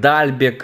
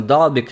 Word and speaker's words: Далбек: Все по-разному называют Далбека, кто-то называет Дальбек, на флешскоре написано Далбек. Мне ближе все-таки именно говорить Далбек, поэтому я вот именно так и буду произносить фамилию этого защитника.